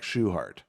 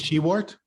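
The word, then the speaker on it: Shewhart: i say be like shoehart uh i is she wart i i have medication i i rip my co-founder who pronounced this she wore it it's shoehart and shoehart is of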